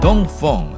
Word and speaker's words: Dongfeng: America Middle East and Africa thank you Don Fong as they pronounce it in China has concentrated on the